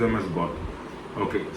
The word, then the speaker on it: GOAT: பட் we pronounce them as காட்.